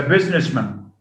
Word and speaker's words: businessman: post post and man when we add man to the word post we don't get post man or business man policeman what do we say instead policeman policeman postman he's a businessman businessman with a schwa so instead of having